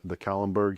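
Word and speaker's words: Kahlenberg: So, the siege of Vienna, 1683, Jan Sobieski, the Polish king, came down the Kallenberg Hill, if I pronounce that correct.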